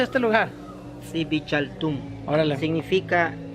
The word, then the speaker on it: Dzibilchaltún: Xibalchatún. Órale. Significa DZIB, se pronuncia Zip.